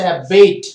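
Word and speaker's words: abate: উচ্চারণ বলেন, এটা হচ্ছে অ্যাবেট।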